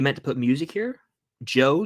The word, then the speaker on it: DJO: Joe, DJO is how you spell it.